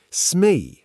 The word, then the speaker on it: Smee: Smee, spelled S-M-E-E, pronounced smee.